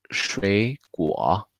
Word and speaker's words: 水果: Y fruta es 水果, 水果. Hay dos sonidos de tercer torno, así que es muy largo para pronunciar todos. Aquí 水, y en realidad damos tono segundo.